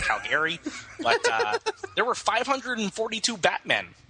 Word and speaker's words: Calgary: You got to pronounce it right. It's Calgary. Come on. The only people who pronounce it Calgary are those dirty Albertans.